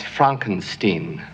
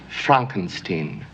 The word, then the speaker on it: Frankenstein: That's Frankenstein. I beg your pardon? My name it's pronounced Frankenstein.